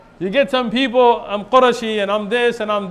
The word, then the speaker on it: Qurashi: You're not called Qurayshi, it's Qurashi. In Arabic, it's Qurashi. It's not Qurayshi.